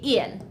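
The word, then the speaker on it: ils: Yes, I know that there's an s after il, but we still just say ill. So we read it the exact same way. ill and ill. We don't pronounce the s.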